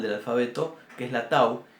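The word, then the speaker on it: תו: Para que se den una idea la vamos a comparar con la que está al final del alfabeto, que es la tau, y que sería nuestra T.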